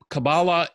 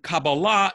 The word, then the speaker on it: Kabbalah: the answer is both Kabbalah is the Ashkenazi way of pronunciation like saying Shabbos or Tallis for the Sabbath and